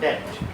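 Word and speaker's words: debt: सर देखो पहले आप ये बताओ वो डेप्थ होता है कि डेप्थ होता है? डेट होता है, और डेट। दोनों में फर्क क्या है? डेट ही है, ये बी साइलेंट है, डेट।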